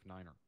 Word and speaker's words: niner: alright so for example to say three five nine phonetically would be three five Niner aren't very simple and